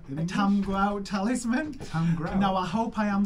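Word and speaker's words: Tamegrout: So, Tamgrout or Tamigrout. Okay. Or Tamigrout. However, depending on your accent, you can mishear it. But you'd spell it like Tamigrout, wouldn't you?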